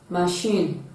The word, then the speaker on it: machine: write with the campaign option c sheen this rhymes with the second level of machine machine shin you'll discover that the set the last label which is the second label of machine rhymes with shin option d fine fine